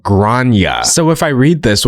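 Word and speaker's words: Gráinne: And I said, well, in Ireland, they typically pronounce it like Grania.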